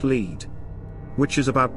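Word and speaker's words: Lead: Pronounced Leed.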